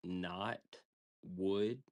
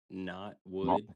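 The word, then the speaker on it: Knotwood: It's called not wood. One word, not wood. And not is spelled Yeah. And not wood is spelled K N O T.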